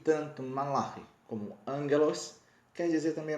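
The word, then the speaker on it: מלאך: Anjo na língua hebraica, que é a língua do Antigo Testamento, onde a Bíblia foi escrita, é malach. Isso mesmo, malach é assim que se pronuncia.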